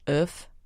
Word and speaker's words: oeuf: But my favorite thing on the happy hour menu was, how do you pronounce egg in French? Oeuf.